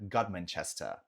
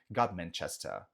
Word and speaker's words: Godmanchester: Próxima cidade, uma cidade pequenininha chamada Godmanchester. Sim, só para pegar a tônica, ela tá no final. Chester, tá? Godmanchester. Fechou?